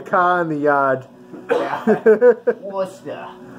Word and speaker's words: Worcester: Worcester. Did I say that right? Yeah, that's how you pronounce it.